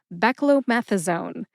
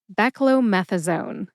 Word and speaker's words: beclomethasone: Anyways, put all five syllables back together and you get beckromethasone. Emphasize meth. See if you can hear the emphasis when I say it again. Beckromethazone.